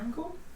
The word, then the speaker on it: Rancor: Is it Rancor? Yeah, Rancor. Rancor. Wasn't sure if I was pronouncing Quick it question: right.